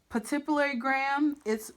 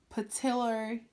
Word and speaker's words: pituitary: find the patipulary it's right underneath the chiasm. That would be the, say it right, pituitary gland.